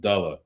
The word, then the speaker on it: Dula: Now, Dula said his name is pronounced Della.